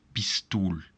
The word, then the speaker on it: pistool: There are two consonants here, but still we pronounce it as a long I. So that's pistool.